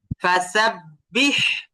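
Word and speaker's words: فسبح: হ্যাঁ, নেক্সট, ফাসাব্বিহ, ফাসাব্বিহ। আচ্ছা, এই শব্দের মধ্যে শেষে যে হাটা আছে, এই হা উচ্চারণ করার সময় বাতাস বের হবে না বাতাস বের হবে না? হামসের হরফ, হ্যাঁ।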